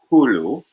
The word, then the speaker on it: Hulu: It's pronounced Hulu.